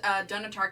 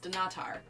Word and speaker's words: Dunnottar: I apparently never pronounced dunnottar castle correctly apparently it's pronounced do not are always felt silly saying it that way dunnottar seemed to flow off